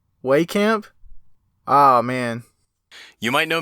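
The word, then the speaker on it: Wehkamp: camp wait a second wait camp have I been pronouncing it wrong this entire time well cap way camp ah man you might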